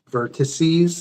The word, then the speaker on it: vertices: Now, vertex, actually, if there's, if you're dealing with more than one, there's the plural version is vertices. That's how we pronounce it.